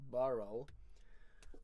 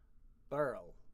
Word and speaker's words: birl: Now, I would pronounce the word, being from near Inverness in the Highlands, the word that's spelled B-I-R-L, I would pronounce that with one syllable, Burl, which I take to